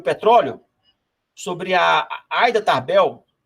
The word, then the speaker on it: Ida Tarbell: Tem uma passagem nesse livro, O Petróleo, sobre a Aida Tarbell, ou Ida Tarbell, acho que é a Aida Tarbell, que deve ser a pronúncia mais adequada, que era uma jornalista